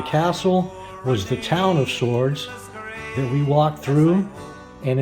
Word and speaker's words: Swords: and drizzly here in Sword Island sword spelled with a w getting ready to pack